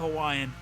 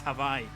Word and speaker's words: Hawaii: I don't speak a lick of Hawaiian. Havai, by the way, it's Havaii.